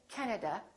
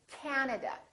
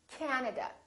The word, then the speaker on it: Canada: and also three A's this time the first syllable is stressed this time this act is really long so don't say Canada say Canada Canada so you need to